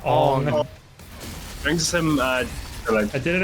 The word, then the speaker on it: Aang: The way Max says arb reminds me of how Aang is pronounced in the last Airbender movie. Yeah, Ong.